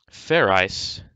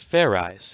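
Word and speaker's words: Fairize: enough you can theorize fair ice set sort of like fried rice idiot it's pronounced fair eyes there is no ice in it what does this fair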